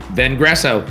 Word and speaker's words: Vengresso: How do you pronounce that? Vengresso.